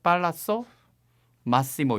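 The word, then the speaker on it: Palazzo Massimo: 그런 생각에서 처음으로 이제 팔라초 마시모라고 하는 미술관, 그곳의 미술 작품들을 먼저 소개를 하려고 합니다. 예, 좋습니다. 팔라초 마시모. 아까 약간 현지 발음으로 팔라쏘 마시모 이렇게 합니까?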